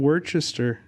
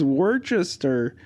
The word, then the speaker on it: Worcester: Wait, what is going on in Worcester?